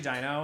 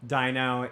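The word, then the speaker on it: Dyno: Rhino yeah who's always waiting his name's actually Dino and he doesn't like when you don't say his name right yeah Dino uh let's filled with a wife d-y-n-o Dino is always happy to see you and um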